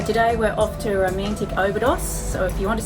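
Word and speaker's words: Óbidos: Okay, and if we keep calling this place Obidos, how do we pronounce it properly? Obidos.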